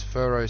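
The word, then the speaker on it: Phero: How about we call this one okay, let's call this one Furrow. And no, that's not Furrow spelt with an F. It's Furrow spelt with P-H-E-R-O.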